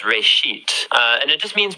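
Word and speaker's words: בראשית: Genesis comes from a Hebrew word uh it's pronounced reit uh and it just means beginning.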